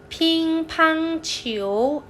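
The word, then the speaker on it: 乒乓球: ภาษา จีน ออก เสียง ว่า Pink ทั้ง ฉิว พิงค์ พัง ฉิว AB หรือ ว่า ซี ฮะ AB หรือ C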